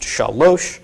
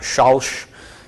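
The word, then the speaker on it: שלוש: So this is pronounced shalosh, not shalsh. Okay, if it was shalsh, there would be a shva under here. Okay, so it is shalosh for 3.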